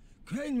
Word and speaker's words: Crane: Crane rhymes with train and brain and sane and grain and rain and plane and the other kind of plane and...